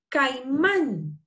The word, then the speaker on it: caimán: Ahora, caimán. ¿Dónde suena fuerte? Man. En la última. La última. Man.